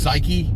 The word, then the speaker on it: psyche: E on the end usually the E is silent but in this case they're like no you definitely say the psyche psyche right it's like